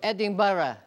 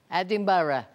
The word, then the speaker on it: Edinburgh: A pronúncia, você notou? Edinburgh. Edinburgh.